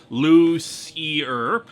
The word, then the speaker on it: Lucier: While you're doing that, dear Louis Lovhog, this is Lucier again, and as the pronunciation, Lucier.